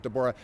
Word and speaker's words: Deborah: Looks like Deborah, but she pronounces it Deborah.